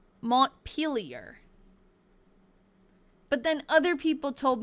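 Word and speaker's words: Montpelier: So like I was saying Mont Pelier, but it's Mont Peel or something. I actually have the correct pronunciation in my Discord. Someone had sent it. Hold on, let me see if I can find it. It's Mont Peelier.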